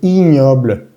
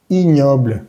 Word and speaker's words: ignoble: Y la G y N suena ñ. Esta palabra se dice ignoble, ignoble, ignoble.